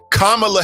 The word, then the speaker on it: Kamala: the Choppers had to teach me how to pronounce it Kamala Harris all right get it right get it